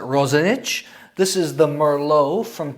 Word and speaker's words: Roxanich: I think you would pronounce it in English as Roxanich, but I think in Croatian they pronounce it Roxanich.